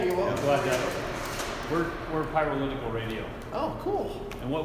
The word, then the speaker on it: PYROLITICAL: Like pyro and political together. Okay. Hey, it's 5 syllables like representative.